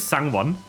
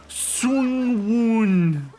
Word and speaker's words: Sangwon: So his name is Sangwon. And people keep over-pronouncing it. It's Sangwon. Sangwon. Like the English words. Lovely. And at least according to the skid he made about it, he has been pronounced Sungwoon before.